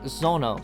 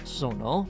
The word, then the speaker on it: 園: The second kanji, Zono, sometimes pronounced Zono, means garden, park, orchard, but can also mean place, world, environment, and this is where garden shows up again.